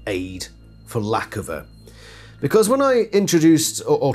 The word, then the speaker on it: Lackofa: much older than me his chosen name was lack of he pronounced it lack of I think it was